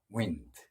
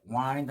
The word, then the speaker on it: wind: 철자는 똑같은데 발음을 wind 이렇게 하면 뜻이 달라집니다. 그때 wind 하면 동사가 됐어요. 감아 올리다, 들어 올리다 할 때 올리다 이런 뜻이 있습니다. 철자는 똑같지만 발음이 wind 하면 바람이고 wind 하면 감아 올리다, 들어 올리다 이런 뜻이 됩니다.